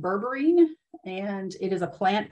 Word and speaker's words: berberine: started asking uh it is the so it's pronounced berberine and it is a plant extract that comes